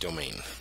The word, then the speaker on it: demesne: my domain size that that word that looks like demesne is actually pronounced domain um my domain size